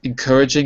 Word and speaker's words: encouraging: Encouraging is the adjective. And the pronunciation is encouraging.